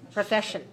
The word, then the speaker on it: profession: a noun and notice that the two S's die they sound like an SH sound like like Marsha that's our show or show me you know so the two S's don't sound like a saison with SH profession profession what are the